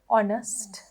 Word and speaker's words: honest: Honest. H is silent. Honest. H sound එකක් එන්නේ නෑ.